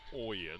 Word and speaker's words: Oyen: ball from titus oyen double check the pronunciation and asked him how you pronounce it it is oyen he's 6'4 180 a